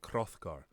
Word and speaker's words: Hrothgar: Because we used to, in Old English, we would pronounce things like Hrothgar.